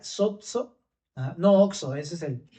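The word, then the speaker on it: σῴζω: Y otra cosa te decía, esta palabra salvación es la palabra se pronuncia sozo, ¿no?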